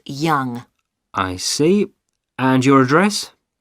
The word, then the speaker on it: Yonge: That's spelled Yonge. That's Young.